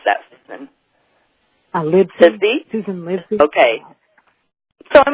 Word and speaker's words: Livesey: How do you pronounce that, Susan? Livesey.